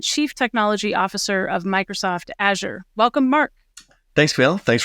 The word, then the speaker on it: Azure: But the way to remember it is say, Azure going to the cloud, use Azure.